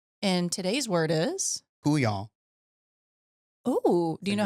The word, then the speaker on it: couillon: We're going to have to figure out how to spell it. But Couillon? Jonah's got it. Couyon.